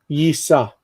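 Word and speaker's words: יִשָּׂא: The nun loves to disappear and to assimilate. So what's going to happen is that the noon disappears and it pops inside of the sin, and it's yisa.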